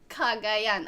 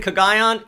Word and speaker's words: Cagayan: Cagayan. Oh, it's how you pronounce it. Oh, God. Excuse me. That's how you do it. I've been saying Cagayan. Cagayan.